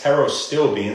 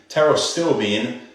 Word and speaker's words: pterostilbene: Pterostilbene, so it's spelled with a silent P in the beginning, PT. Pterostilbene, probably the major potent antioxidant, but they're also full of anthocyanins, other antioxidants.